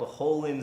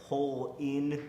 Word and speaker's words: Holen: I once found a paper town called Hole in, South Dakota, like, it's spelled Holen, but it's like Hole in, South Dakota.